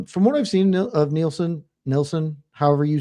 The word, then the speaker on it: Nilson: Yeah, it's Nilson because the letter I is pronounced E in Spanish.